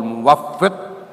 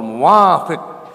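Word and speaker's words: مُوَفِّق: Padahal itu berubah dikit beda maknanya. Ada yang wallahul muwafiq ila aqwamit thoriq. Kalau bacanya begitu menjadi Allah itu setuju dengan kaum-kaum jalanan, aqwamit thoriq.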